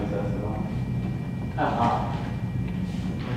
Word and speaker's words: Asianua: Asianua? Is that one? Asianua. A-S-I-A-N-U-A. Yeah, I tried to pronounce it. It sounds like Asia, right?